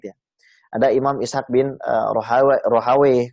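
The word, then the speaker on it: Rahawaih: Ada Imam Ishaq bin Rohawe, kemudian ada yang bacanya Rahwiyah, ya. Cuma yang disahihkan oleh banyak ulama itu Rohawe.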